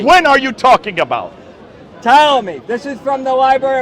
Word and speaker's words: Ptolemy: Yeah, Ptolemy. AD. The P is silent.